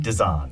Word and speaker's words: Desan: brilliant and celebrated Christine Desan of Harvard Law School. Did I say that? Or I said it wrong, didn't I? Desan. Thank you. You were close enough.